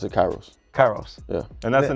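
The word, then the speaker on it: K8IROS: I don't want to say wrong oh I pronounce it Kairos Kairos yeah and that's the name of the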